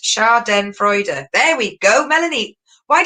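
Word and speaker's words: Schadenfreude: right okay we've got one race put it's pronounced char den freude there we go melanie why didn't you do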